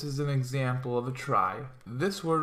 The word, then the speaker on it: trie: a try that's how this is pronounced right here a try sometimes called